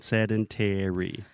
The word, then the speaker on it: sedentary: another good tip is in a word like sedentary most of the time the stress will fall on the pent ultimate syllable right so you're saying sedentary now what syllable penultimate penultima yeah I never knew that that word exists in English and I've said it to you many times penultimate you can also say the next to last syllable yeah yes okay so